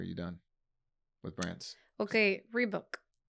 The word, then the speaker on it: Reebok: with Brands okay rebook is it rebook how do you guys pronounce the brideberry book rebook are you asking me to read a book no the brand rebook rebook three books I don't know how to say it Reebok okay Reebok you see that it's